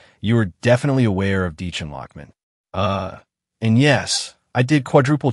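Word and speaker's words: Dichen Lachman: But actually, if you're a fan of Severance or watched Dollhouse back in the day, you are definitely aware of Deechan Lockman.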